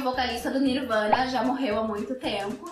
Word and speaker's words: Nirvana: Falando de Nirvana, Nirvana é uma palavra que tem a mesma grafia em inglês e em português, só muda um pouco a pronúncia. Em português, nirvana e em inglês, nirvana.